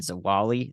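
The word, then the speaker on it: Zwolle: the core of this so Noble Louisiana and zawali that's how you pronounce that and uh to Many Louisiana is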